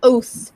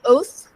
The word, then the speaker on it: oath: um so I I know I heard you pronounce it as o but it's it's uh oath oh you guys can see my dog in